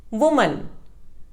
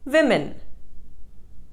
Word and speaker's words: women: correct pronunciation is wednesday women it is commonly mispronounced as woman the correct pronunciation is women develop it is commonly